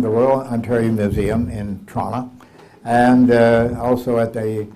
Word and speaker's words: Toronto: Actually, if you're from Toronto, you have to say Toronto. T R A N A. You see, that's the way they say it.